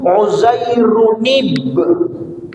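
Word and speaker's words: عُزَيْرٌ: ada Nun ziadah tambahan jadi bacanya harus waqtil yahudu uzairunib ada nunnya karena asalnya itu uzairun ya uzaai Run ada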